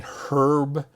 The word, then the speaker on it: herb: Mr SP Mr spur do you mean herb and of course I'd be cheeky and say no I meant herb so just difference the the British the Brits pronounce the AG we do not so the Americans do not generally and with that we